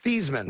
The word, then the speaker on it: Theismann: to him and said we're going to change the way your name is pronounced it's pronounced thiesman that's his name yeah